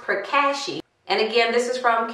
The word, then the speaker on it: Pracaxi: very impressed here's the product again and it's pronounced per Kashi and again this is from Carol's Daughter and